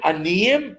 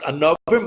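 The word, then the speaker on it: ענוים: Now it's written aniyim, but it's supposed to be pronounced anovim.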